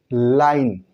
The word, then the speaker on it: line: Note कहता है कि किसी शब्द के अंत में अगर ई हो, किसी शब्द के अंत में ई हो तो उसका उच्चारण नहीं होता है, उसकी वैल्यू नहीं रह जाती है, उस ई का उच्चारण नहीं होता है।